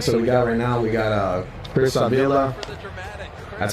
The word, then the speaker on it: Chris Avila: All right, so we got Chris Avila. That's how you pronounce it.